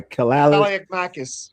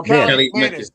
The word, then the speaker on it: Kaliakmanis: did last year, and how you say his name? I ain't going to try. Kaliakmakis. Kaliakmakis. Oh, Kaliakmanis. Kaliakmanis. Yeah, Kaliakmanis. Thank you.